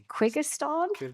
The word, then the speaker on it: Kyrgyzstan: with Brazil, Belarus, I'm not sure how to pronounce this, Kyrgyzstan, is that right?